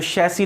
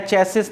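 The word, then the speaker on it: chassis: जो शैसी नंबर, आप चाहे चेसिस नंबर भी बोल दोगे तो आपको नॉलेज है कि इसका प्रोनाउंसिएशन शैसी है, कभी एग्जाम में आएगा तो आप गलत नहीं करोगे, ऐसा मैं मानता हूँ।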